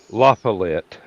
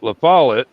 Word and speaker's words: LaFollette: and Foul Play was suspected Robert Stack kept pronouncing it Lafayette and I I just cringed I just you've never been there have you no otherwise you'd heard people that lived there pronounce it LaFollette that's Denny's version of a combination between a